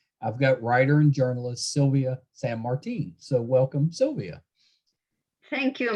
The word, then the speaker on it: Silvia San Martin: did i did i get somewhere close to pronouncing your name right it's okay sylvia martin is okay yeah yeah that's not terrible that's